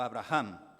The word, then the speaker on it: Avraham: que será tu nombre abraham o abraham como ustedes quieran pronunciarlo abraham o avraham porque te he puesto